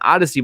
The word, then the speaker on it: Audacy: And Odyssey, by the way, is spelled AUDACY.